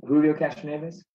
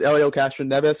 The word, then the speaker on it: Helio Castroneves: How do you pronounce that again, Scott? Say it again. Julio Castroneves? I think it's Elio. All right. Both teams checked in with Elio Castroneves, and both teams are receiving points.